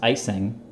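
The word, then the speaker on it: Ejsing: Check out his name down there, Jesper, I believe it's pronounced Icing.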